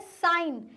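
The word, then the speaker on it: sign: साइन। साइन में भी जी साइलेंट है।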